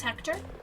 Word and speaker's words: Hector: Hector, your name rhymes with director.